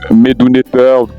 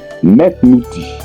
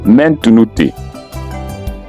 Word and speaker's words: ⲘⲈⲦ ⲚⲞⲨϮ: En premier lieu, il faut savoir que médouneteur veut nous dire en principe la parole de Dieu, la parole divine. On dit plutôt metnouti ou alors mentnouti.